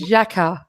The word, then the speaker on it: Xhaka: says his name is Xhaka, like that. I've been trying to say it all day. What Xhaka. they... No, it's not. It's Xhaka, like that with a J.